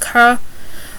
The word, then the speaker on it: car: R's are pronounced as H's, but it's not vice versa, so car is pronounced ka, just like Noma, ex-Red Sox shortstop is pronounced Noma, but house remains house.